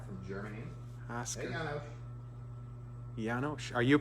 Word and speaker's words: Janosch: Janosch. Are you pronouncing his name right? I think so, yeah. He taught you that? Shh at the end.